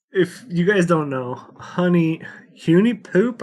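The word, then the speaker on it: HuniePop: you guys don't know honey uni poop I don't know how you say it it's supposed to be pronounced Honey Pop I just never called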